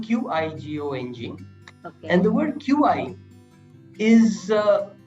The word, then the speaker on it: qi: gang is written q-i-g-o engine and the word qi is uh pronounced qi and is what refers to life